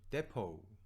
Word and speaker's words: depot: Unusual pronunciation of the word depot. depot라는 단어의 발음을 잘못해가지고 비난의 대상이 되고 있습니다. 이런 기사가 있었어요. depot라는 단어, D-E-P-O-T, T로 끝나죠. 근데 그 T가 발음이 안 되죠.